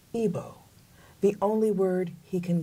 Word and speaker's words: Igbo: It says, to the, is it pronounced Igbo? Igbo.